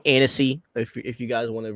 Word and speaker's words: Annecy: James Gunn talks about the DCU at the Anarchy Film Festival. If I said it wrong, Annecy, if you guys want to really correct me like that.